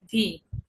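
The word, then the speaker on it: We: ডাব্লিউ কে ডয়েসে বলে ভে। ঠিক আছে?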